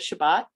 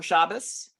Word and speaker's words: Shabbat: Jewish holy day of Shabbat um or chabas um depending on how you pronounce it and and it's